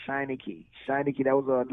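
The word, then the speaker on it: Shanachie: Shananashi or what? No, Shiny Key.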